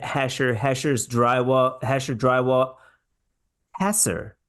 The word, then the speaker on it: Hesser: like hher better but the pronunciation of Chad's name is hasser hasser drywall and out of